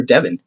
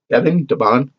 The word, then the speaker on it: Devon: Specifically pronounced Devon. Was it Devon or Devin? Devon.